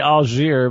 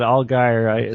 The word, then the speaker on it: Allgire: pronounced your name properly is that right al guy oh guy i'll get her yeah oh guy okay i want to say algiere but all guy steve travesty's been correcting